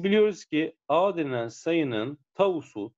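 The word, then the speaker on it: τ: Biz biliyoruz ki A denilen sayının tavusu, tavu diye okunuyor arkadaşlar bu işaret.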